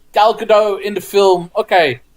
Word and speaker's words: Gal Gadot: a shot of Gal Gadot with, am I pronouncing that right, by the way? Gal Gadot?